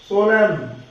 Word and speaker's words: solemn: इसी तरह ये शब्द CONDEM, कंडेम, एन बोला नहीं जाएगा, कंडेम, HYM, एन, इसको हाइम, एन साइलेंट रहेगा, SOLEMN, सोलम, सोलम, इसके अंदर एन साइलेंट रहेगा, DAMN, डैम।